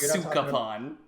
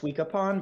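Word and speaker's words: Sukapon: It's pronounced Suka-pon. I thought it was Suika-pon, but then I realized that's a water.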